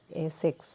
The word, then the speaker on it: ASICS: इसका correct pronunciation कीजिए आप, एसिक्स।